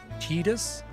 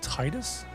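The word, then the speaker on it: Tidus: I also learned that in Final Fantasy 10, apparently it's pronounced Tetus and not Titus. I've never played 10, but I always thought it was called Titus, but I was corrected recently.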